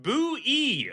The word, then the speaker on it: Bowie: Also, I just want to point out from Google, Jim Bowie's surname is pronounced Boo-E, rhyming with Chewy.